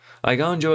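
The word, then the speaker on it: Eiganjo: have to pronounce now aegonjo i gonzo there we go yeah i gone joe exemplar nailed it two mana two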